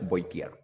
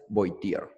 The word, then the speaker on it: Voltaire: Se pronuncia Voltaire. El francés, Voltaire.